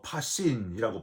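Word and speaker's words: πᾶσιν: 소유를 버린다는 거는요, 참 어렵고 힘든 일인데, 이 33절에서 더 부담되는 거는 앞에 모든이라고 하는 표현이 헬라어로 파신이라고 발음하는데, 하나도 남김없이 전체를, 그런 의미예요.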